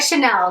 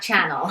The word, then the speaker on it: Chanel: perfect i mean like i like chanel not channel there's a big difference how do you say